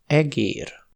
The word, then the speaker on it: egér: E aussi change de qualité quand il est long : e, é, egér.